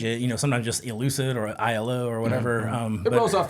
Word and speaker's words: Aiello: But then it's also an acronym of how you pronounce my last name, ILO.